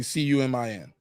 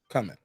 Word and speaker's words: cumin: peppercorn could come in I don't see two C's I just see c-u-m-i-n coming yeah cumin cumin thank you even if that's not